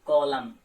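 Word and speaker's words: column: अब एन में आपको ध्यान में रखना, अगर एन से पहले आपका एम लेटर आता है तो उस कंडीशन में एन लेटर को आप प्रोनाउंस नहीं करते हैं, जैसे कॉलम। तो आपने यहां पे क्या किया, एन आपने प्रोनाउंस नहीं किया।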